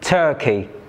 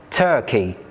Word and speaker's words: turkey: For example, in the word turkey, the stress mark is before the first syllable tur. So, t is pronounced with greater force than the second syllable key. We say turkey.